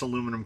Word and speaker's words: aluminum: I do pronounce aluminum correctly. That's correct. Aluminum. I don't put any extra letters in it either.